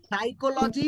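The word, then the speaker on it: psychology: না clear yes স্যার সাইকোলজি বানানে P silent থাকে ওকে ওকে চলো আচ্ছা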